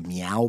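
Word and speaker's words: Miyao: Like Meow, like a kitty cat meow? But it's like Sao Paulo, Meow. But Okay. it's not really like meow meow cat.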